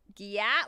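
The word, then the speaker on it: gyat: a big butt and it's spelled like g y a t like so you're looking at it like Gat like even how it spells is different but it's Gat no that's how they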